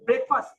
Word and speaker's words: breakfast: okay last one is breakfast oh yes it's my favorite my favorite meal so we don't say break it's not break it's break so we say breakfast okay and so in